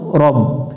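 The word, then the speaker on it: رَبِّ: রু এটা জিব্বার আগা থেকে একটু নরম করে উচ্চারণ করতে হবে বাজের বিউবি আউজুবি বারবার একটা শব্দ পড়ে আমরা মুখস্ত করে নিব র বা জবর রব এখানে অনেকজনে ভুল করে রাব পড়ে রাব রাব্বিন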